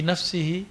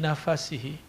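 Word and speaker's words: نفسه: Ini bacaannya ada dua. Fi nafsihi dan yang kedua fi nafasihi. Kalau ahli hadis kebanyakan bacanya man dzakarani fi nafsihi. Siapa yang menyebutku dalam dirinya. Tapi sebagian masyayikh saya membacanya fi nafasihi. Siapa yang mengingat aku pada nafasnya. Boleh toh? Karena teksnya nggak ada barisnya, nggak ada harokatnya.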